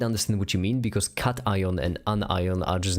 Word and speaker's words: cation: I used to pronounce it kion, by the way, an onion, but then flame pointed out to me that it stems from an ion.